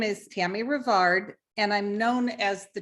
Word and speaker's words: Tammy Revard: anne harrison and today my special guest is tammy rivard and if i've mispronounced your name that's right you've got it